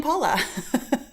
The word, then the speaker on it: Pahla: you say your name I say my name Paula you've heard me say that before it's paa B Tammy says it's cold